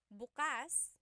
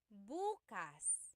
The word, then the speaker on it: bukas: If you say bukas the emphasis is on the second syllable that means open. If you say buas emphasis is on the first syllable that means tomorrow.